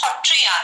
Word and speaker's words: Sattriya: We call Satriya as Hotriya. Sir we pronounce as Ho.